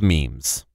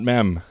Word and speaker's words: meme: it whatever especially nowadays is the prevalence of memes and their effect on game development on game